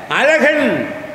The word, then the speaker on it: அழகன்: நீங்க ஆங்கிலத்தில் அழகன் அப்படின்னா என்ன போடுவீங்க? ஏ போட்டு ZHA 3 எழுத்தை போடுவோம். இருந்தாலும் இந்த உச்சரிப்பு வருமா? அசகன்னு தான் வரும்.